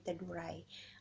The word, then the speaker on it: Teduray: Ang tamang pag-pronounce po ay Teduray.